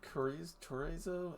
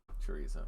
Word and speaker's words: chorizo: you like to order today I have ham T tzo and gossip I think it's chorizo but it's definitely a kind of sausage yeah chorizo yeah I said it wrong all right let's